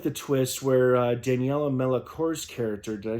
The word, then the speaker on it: Melchior: I also like the twist where Daniela Melchior's character, did I say her name right?